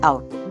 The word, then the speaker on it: cout: It is pronounced as cout.